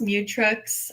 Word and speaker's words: Mutrux: Well, it's pronounced mutx.